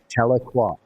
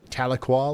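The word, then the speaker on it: Tahlequah: Taloqua. Taloqua.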